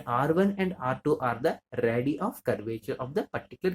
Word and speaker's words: radii: So singular form ఉంటే రేడియస్ అంటాం, బట్ ఇక్కడ r1 r2 రెండు ఉన్నాయి కాబట్టి we have to pronounce it as radii.